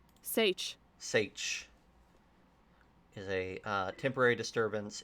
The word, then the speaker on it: seiche: Um, Sish, how do you pronounce that? Sage.